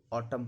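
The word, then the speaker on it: autumn: पहले एम हो तो एन का उच्चारण नहीं होता। इसको कॉलम पढ़ा जाता है। इसको ऑटम पढ़ा जाता है।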